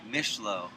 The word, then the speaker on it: Mishleau: Mishleau.